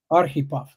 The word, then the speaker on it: Arhipov: So if I put in your name, if I put in, how do you say it again? Arip. Ahip. Aripov. So accent like typical American. I put the accent on the wrong syllable.